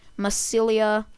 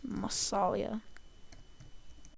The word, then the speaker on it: Massalia: Anyways, Massilia, I Wait, let me uh respell that. It's Massalia.